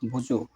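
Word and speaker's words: ওযু: এখানে সঠিক উচ্চারণ হবে বুজু।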